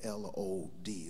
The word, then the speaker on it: Lod: The Old Testament calls this city Lod, L-O-D. Some pronounce it Lod.